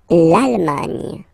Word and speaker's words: Allemagne: L'Allemagne. Nye, nye, nye, nye. Remember this G, N, E.